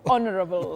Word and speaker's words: honorable: silent yes yes it's honorable the H is silent all right Willis thank